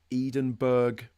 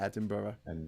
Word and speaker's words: Edinburgh: were going up to edenburg and the whole time we were like what the hell are they talking about edenburg what and then we realized they were talking about Edinburgh they were literally well